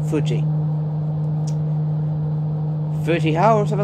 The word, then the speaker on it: Fuji: that's how you say fuji say after me fuji that's how you pronounce it because that's how you pronounce it in japanese fuji footy or something like